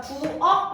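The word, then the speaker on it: 부엌: 자, 부억 발음 한번 해보겠습니다. 키읔은 발음이 되지 않기 때문에 어떻게? 가장 비슷한 기역으로 발음이 된다라는 거예요.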